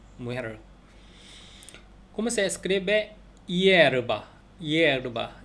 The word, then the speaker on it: hierba: hierba. hierba는 앞에 H가 묵음됐어요.